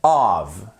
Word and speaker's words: of: Donc faites vraiment attention déjà à bien prononcer. Of, off.